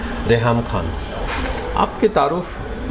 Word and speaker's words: Reham: अच्छा, बहुत से लोग गलत प्रोनाउंस भी करते हैं, कोई रीहाम कहता है कुछ एंग्लिसाइज करके और कुछ लोग रहम से समझते हैं कि रूट है। एक्चुअली इजिप्शियन स्लैंग अरबिक से है, बिकॉज मेरी पैदाइश लिबिया की है, तो वहाँ मेरी वालदा को नाम पसंद आया और नाम एक्चुअली रहम से नहीं है, कुरानिक अरबिक से नहीं है, रहाम प्रोनाउंस किया जाता है इन द अरबिक हाँ, और इट इज़ टू do with बादल।